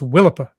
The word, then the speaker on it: Willapa: Bay, and I was corrected and told it's Willipa Bay. Willipa? Yes. Some I've never heard of Willipa. First Nation heritage descendant said, "Nope, it's Willipa."